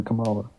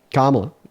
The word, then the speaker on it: Kamala: I I like him over Camala. Kamala, how you pronounce her name.